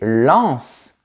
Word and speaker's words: Lens: H, c'est vrai, mais on dit reince et lance. Ce sont deux villes aussi, mais on prononce le S final.